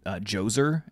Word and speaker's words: Djoser: And the old kingdom, which comes right after, starts off with this guy named Djoser, and he builds like the step pyramids. Djoser. Yeah. Djoser, spelled with a D-J-O-S-E-R.